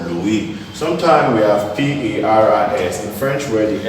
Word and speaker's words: Paris: S is silent in L-O-U-I-S, which is called Louis. Sometimes we have P-A-R-I-S.